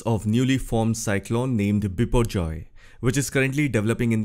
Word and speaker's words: Biparjoy: Cyclone is named as before Joy taking into consideration the Bengali pronunciation where the letter a is pronounced as o although the spelling is